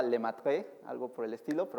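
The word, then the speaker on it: Lemaître: apellida, si alguien sabe francés, creo que se pronunciaba Lemaitre, algo por el estilo, pero vamos a decirle Lemaitre, así, ¿no?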